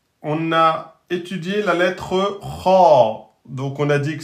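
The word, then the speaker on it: خ: Donc, nous allons dire Kha, Kho, Khi, et non pas Khe, Khou, Khi.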